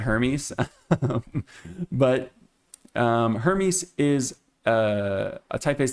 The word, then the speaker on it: Hermes: I know there are a bunch of different ways to say this. I'm going to be an American and just say it Hermes.